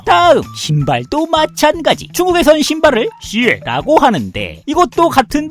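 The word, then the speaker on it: 鞋: 중국에선 신발을 슈에라고 하는데 이것도 같은 발음 다른 의미로 슈에라고 해서 사악하다라는 뜻도 가지고 있으니 신발 선물도 피하시길 권장드리고 마지막으로 배는 또 중국어로 리라고 부릅니다.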